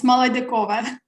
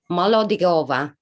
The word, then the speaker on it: Molodyakova: I can pronounce it's Molodyakova. Molodyakova.